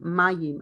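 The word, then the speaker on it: מים: the yayan and mayim i need to pronounce the yods yayin and mayim i cannot read this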